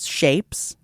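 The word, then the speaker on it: SHVPES: Oh, now singer Bruce Dickinson's son Griffin is in a metalore band called Shapes.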